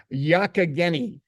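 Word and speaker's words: Youghiogheny: Was it Youghaghany? Youghaghany. Did I get that right? No, Mike. Youghaghany. Youghaghany. It's in Pennsylvania.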